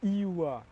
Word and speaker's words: Ioua: Tu peux me le dire que je le prononce bien? Mon prénom, c'est Ioua.